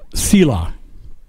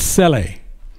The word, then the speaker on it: Selah: It'll say, well, most people pronounce it Selah, but it's Sele.